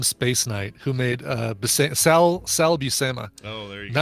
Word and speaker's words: Buscema: Here's the pronunciation. Buscema, Sal Buscema and John Buscema.